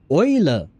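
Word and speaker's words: Eule: Oiler. So, just like oil but with a at the end.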